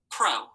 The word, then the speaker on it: pro: Remember, they have that long vowel sound because they're open syllables.